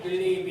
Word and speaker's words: believe: 이 believe 할 때 believe 약간 believe 입을 웃어야 돼요. believe 이렇게 좀 찢어야 돼요. 사실 영어에는 이렇게 발음이 이렇게 좀 입을 크게 하는 게 중요해요. 아니면 전혀 다른 발음이기 때문에 좀 여유를 가지고 believe 하지 말고 believe 좀 여유를 두고 발음하셔야 돼요.